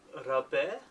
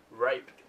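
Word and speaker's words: Rapé: Yeah, I, this Gothenburg's, how do you say it, Rabe? Yeah. Yeah, I went to the counter to get this, and Freddie was like, just ask for what you call it, you know, how you spell it. And I was like, okay. So I went to the counter and asked her for some Gothenburg rape, because that's how it's spelled.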